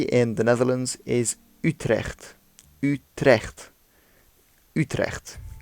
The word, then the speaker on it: Utrecht: is Utrecht Utrecht Utrecht and again you have the CH making the same the you isn't Utrecht as many people ourselves and others say but you it's the mouth is a lot more open when you're saying it ooh you deaf youth